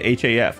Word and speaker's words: half: I only say it h af. I don't pronounce the l.